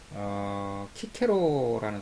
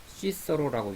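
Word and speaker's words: Cicero: 또 친구에 대해서 잘 쓰는 책을 한 권 소개한다면 키케로라는 사람이 있어요. 키케로, 시서로라고 영어로 읽으면 시서로, 키케로, 라틴어 발음으로 하면 키케로인데 로마 시대 때 대철학자죠.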